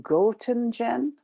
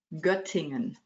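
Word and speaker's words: Göttingen: and can i check as well is it goltengen germany say it again i didn't get that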